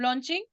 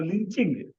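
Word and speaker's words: lynching: मॉब लॉन्चिंग. Okay, mob लिंचिंग. लॉन्चिंग, लिंचिंग, ये कहाँ की प्रोनाउंसमेंट है मैं बताती हूँ आपको. लॉन्चिंग क्यों बोला, लिंचिंग क्यों नहीं बोला मैंने.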